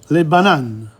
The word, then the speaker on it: les bananes: Les bananes. Les bananes. The S is not pronounced.